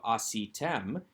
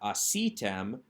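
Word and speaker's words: עֲשִׂיתֶם: segal plus a mem so it draws the accent so it's not asitem but asi tem we still have though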